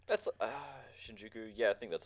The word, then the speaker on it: Shinjuku: went over there and just hang out in Shinjjuku. Am I said it right? That's Shinjuku.